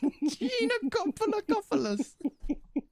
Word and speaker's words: Giannakopoulos: Giannakopoulos. Giannakopoulos.